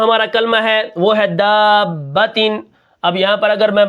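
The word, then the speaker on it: دَابَّةً: ہوتے ہیں۔ ٹھیک ہے، دال الف زبر مد با با زبر با داب تا دو زیر تین دابتن۔ ٹھیک ہے، اب یہاں پر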